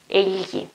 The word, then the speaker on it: egli: Only if you have the E, then you have the sound, it is gl, egli, egli, which is also an article, for example, gli animali, the animals, gli animali.